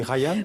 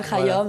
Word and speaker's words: Khayyam: Voilà, d'Omar, j'allais dire Khayyam, mais on dit Khayyam. Oui, Omar Khayyam, et vous pouvez dire Khayyam, vous pouvez le prononcer à la française.